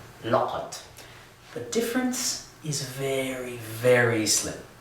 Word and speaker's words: لَقَد: version of qad where we have added a lam to the beginning of it. So the whole thing looks like this, and it's pronounced laqad.